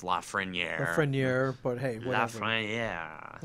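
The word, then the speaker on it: Lafrenière: Which I know it's technically pronounced Lafreniere.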